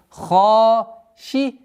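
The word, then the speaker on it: خاشعة: Ха твердое. Удлинение в размере двух огласовок. Хашиа. При остановке танвин дамма аннулируется и та марбута переходит в звук ха. Хашиа.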